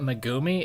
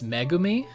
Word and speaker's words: Megumi: pronouncing them uh like it's apparently not mumi it's megumi which makes a lot